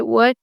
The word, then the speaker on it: what: When you say what, you don't have to pronounce the T sound.